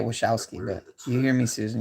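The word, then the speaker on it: Wojcicki: said you hear me susan talking about what what what how do you say her name would woe it's such a weird-looking name wachowski wachowski i know you say it wishowski but you hear me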